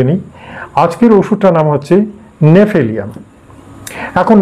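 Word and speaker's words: Gnaphalium: নাম হচ্ছে নেফিলিয়াম এখন নেফিলিয়ামের বানানটা কিন্তু বড় পিকুলিয়ান জি এন এ পিএইচ হ্যাঁ এল আই ইউ এম অর্থাৎ কিনা জিনেফেলিয়াম বা গেনেফিলিয়াম বা এরকম উচ্চারণটা একচুয়ালি হওয়ার কথা কিন্তু না এখানে জির উচ্চারণটা নেই বোতলের গায়ে যে নামটা লেখা থাকে দেখবেন প্রথমে জি আছে তারপরে এন এচ এরকম আছে অর্থাৎ কিনা জির উচ্চারণ নেই শুধু নেফিলিয়াম শব্দটা আছে বুঝতে পারছেন তাহলে জেনে রাখুন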